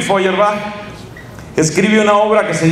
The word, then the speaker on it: Feuerbach: Alemania ludwig lud y el apellido ferach se escribe feuerbach feuerbach se pronuncia ludwig feuerbach ludwig feuerbach es un filósofo que